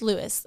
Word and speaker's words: Louis: Or Chief Louis. I'm not sure how his name is pronounced. I apologize. Correct me, folks who are listening. It is spelled Louis. So it's Lewis. That's how we pronounce it.